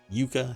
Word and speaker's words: Yucca: Mesquite fire a ceremonial Yucca right that's how it's pronounced Yuka staff festooned with eagle